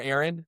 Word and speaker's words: Aaron: It's Ain. Ain. Is it Ain? Is that how I pronounce your first name? Because I I don't pronounce your last name correctly. Just reg. Yeah, it's regular Aaron.